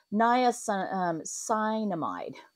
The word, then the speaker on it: niacinamide: It's got the niacin, see, I can't pronounce these. Niacinamide.